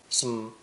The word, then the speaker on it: some: Some is also lightly pronounced with no vowel sound between. Some.